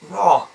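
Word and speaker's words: ر: This letter here is Ra. Ra. And as you notice, your jaws tuck inwards a little bit, and then your mouth goes oval.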